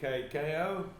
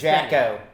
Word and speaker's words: Jako: Okay, so I'm Yaku. I suppose, Yaku. Yaku. Yeah, I suppose you write the Jako, but you pronounce it Yakko.